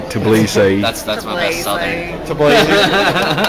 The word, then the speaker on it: Tbilisi: Tbilisi. I said it wrong and I'm being corrected. Tbilisi.